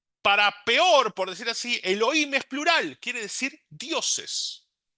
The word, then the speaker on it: Elohim: Elohim. Y acá sí se pronuncia como se lee, no hay esta pronunciación alternativa. Por ahí nuevamente los muy religiosos en vez de Elohim van a decir Eloquim, pero la realidad que ese es el nombre.